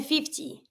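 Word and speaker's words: cinquante: And then 50. 50, 50. 50. you have the IN, such as 5, that you pronounce un, and I don't pronounce the final E.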